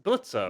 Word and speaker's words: Blitzo: Blitzo. Yeah, That's it. yeah, it's Blitzo. I yeah. like that. Well, Blitz. Blitz. Okay. The O is silent.